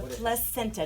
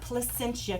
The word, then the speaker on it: placenta: The placenta, not Placentia, California. That's in Orange County. I said placenta. It's placenta. I know you didn't say it wrong, but a lot of people do.